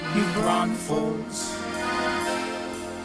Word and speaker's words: New Braunfels: to saying it, but you're going to get the side eye real quick from the locals around here if you start throwing another S in there.